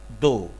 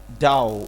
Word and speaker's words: دو: If you see this one, so you will pronounce like dow. Okay, but it's not dow.